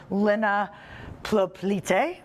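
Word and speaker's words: Lina Plioplyte: It's a very special film made by a very special woman, first-time filmmaker, Lina Plopelite. Yes, we did it right.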